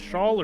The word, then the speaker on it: Shaw: Is it Shawl or Shaw? I've never known. Shaw. The L is silent.